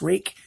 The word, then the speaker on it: Ruike: you pronounce their name and they say it's pronounced rake so then I say it's pronounced reek let's do the rest of the measurements here